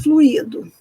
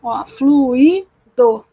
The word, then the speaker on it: fluido: Às vezes a gente ouvir pessoas dizendo o fluído fluído que que é um fluido juiz é uma forma verbal né que tem um hiato ali ó o icônico né E que tem três sílabas fluido unha sílaba tônica que